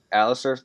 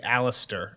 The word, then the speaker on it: Alliser: to answer this one who comes with Janos Alistar Thorne yes and you said it right I thought I was about to trip you up and say Alistair I always call him alist with a t